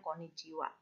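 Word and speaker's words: こんにちは: tulisannya bagaimana hiragananya Konnichiwa WAnya pakai ha karena pakai partikel to be bukan pakai uang Wow atasi Bukan tapi konnichi ha Tapi bacanya Konnichiwa begitu ya Sam yo Come bawa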